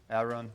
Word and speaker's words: Aaron: It's spelled Aaron, pronounced Aaron, but I now respond to Aaron too because of the Key and Peele skit, right?